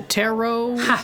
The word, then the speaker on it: tarot: Is it kind of similar to tarot? Terat, however that terat is pronounced.